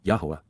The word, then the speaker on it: Yahowah: led and guided by, Yahowah, Yahowah, God's proper designation pronounced as instructed by his Torah, guidance on.